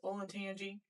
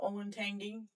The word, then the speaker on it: Olentangy: Um, one of the top words that come to mind is Olentangy. A lot of people call it Olentangy.